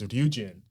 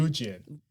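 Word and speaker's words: Ryujin: itsy that girl group her name's Eugene what is it do you do you Eugene and her her name in English is spelled like r-y-u-j-i-n and like I couldn't figure out how to say that word until I saw her name in Korean and I was like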